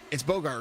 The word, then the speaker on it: Bogart: It gets said both ways all the time. Yeah, it's Bogart, right?